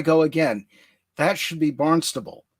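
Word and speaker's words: Barnstaple: a little village called swimbridge it's south of barn staple now there I go again that should be barnable right right and we have a barnable in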